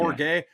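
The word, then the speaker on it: Bourguet: Bourget, is that how you pronounce that kid's name? Trenton Yeah, Bourget.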